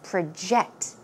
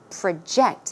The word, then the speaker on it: project: in today's actual talk we learned the verb form of project so it's project project okay it means to